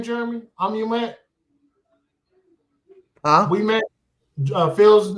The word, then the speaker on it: Ouimette: We met.